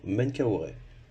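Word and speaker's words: Menkaourê: voir sur ce cartouche le nom du pharaon menkaoré le jeu de cénette qui se prononce men les deux bras levés en l'air qui se prononcent K et en l'occurrence ici koou car il est représenté trois fois et enfin le disque solaire qui se prononce RA ou r on peut tenter la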